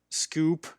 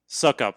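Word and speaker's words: Succop: So for me, I'll just say, my top 5 are Koo, Zerline, Bucker, Scoop. I never pronounced that right. Gold. Brian Suckup? Suckup, thank you.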